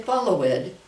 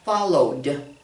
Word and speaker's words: followed: We add the ed and we say, we don't say follow it, follow it. Sometimes I've heard people reading things and they'll say follow it. No, followed, followed. Put just the D sound, followed.